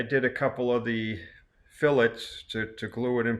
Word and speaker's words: fillets: uh these are called fillets fillets and that's spelled f i l it's not a filet it's a fillet and it's actually um